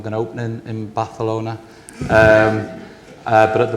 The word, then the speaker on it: Barcelona: to get into B Barcelona or balona as you should pronounce it um we'd love to